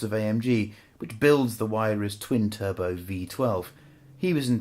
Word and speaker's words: Huayra: It's called the huayra, not the huayra or the huayra or the huayra. It's huayra.